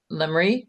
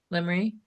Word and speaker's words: Lemery: I'm gonna move to approve application 04-24-19 Camp Road by Lemery. Did I pronounce that right? Lemery? Yes, Is ma'am. it- Yeah, Lemery. Lemery, yep.